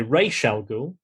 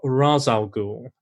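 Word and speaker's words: Ra's al Ghul: or rachel ghoul um you can promote pronounce it both ways you can google that um you can say you can either say ray shell ghoul or rasal ghoul apparently either i think i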